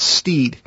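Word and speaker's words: Stead: It's spelled S-T-E-A-D, but I believe he pronounced it Steed.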